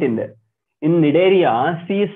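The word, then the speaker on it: Cnidaria: silence C are silent I don't know why don't ask me why C is silent okay cph cords and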